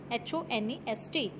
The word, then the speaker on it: honest: Now honest, this is not honest, H-O-N-E-S-T. H over here is silent and we pronounce the word as honest, O-N-E-S-T, not honest.